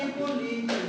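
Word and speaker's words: Hippolyte: n é é a pronúncia deve ser Hi polí porque francês é francês tende a fazer tudo desta a tônica costuma ter essa essa característica né Se fosse inglês seria pro paroxítono como é francês a tendência é a tônica se deslocar para o final Então esse cidadão que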